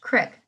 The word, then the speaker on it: creek: Then came the railroad tracks, then the woods, then the creek, pronounced crick in Norristown.